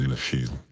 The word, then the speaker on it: Lasthiel: My name is Lasthiel. For those of you looking at my name and how it's spelled, you'll notice there was a letter missing. Do not speak. You do not speak that letter.